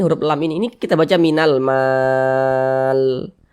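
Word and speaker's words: مِنَ الْمَالِ: Nah, ini huruf lam ini kita baca minal mal. Jangan dibaca minal mali, jangan, tapi dibaca mal.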